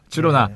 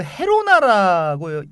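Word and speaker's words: Girona: 까스티아어로는 그러니까 표준 스페인 말이 되겠죠. 까스티아어로는 그 헤로나라고 이렇게 발음을 하지만 네. 카탈루냐에서는 그 지로나라고 부릅니다.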